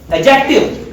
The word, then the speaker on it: adjective: And another thing, the next one is adjective. You pronunciate it as adjective, but this is not adjective. This is Adjective. because D is soft here, D is silent here.